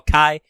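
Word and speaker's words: Chi: to recoded or cocky which I constantly want to call Kai because I'm sorry Japan that's how you actually pronounce that Greek letter but I know you want to make it a key thing because Keyblade and also because that's how you guys pronounce Qi key hello let me check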